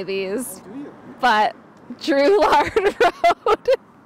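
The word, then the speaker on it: Drouillard: I know how to properly say these, but Drew-lard Road. I-double-L is pronounced with a Y sound.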